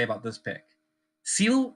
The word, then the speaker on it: Zeal: Seal rhymes with steel, which is how we viewed this pick.